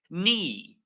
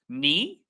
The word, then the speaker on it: knee: So Soljin says K is nothing is not pronounced and you are correct.